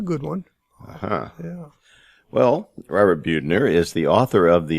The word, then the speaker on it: Buettner: it all the time it's beauty queen and think about the antithesis of one which is me then that will help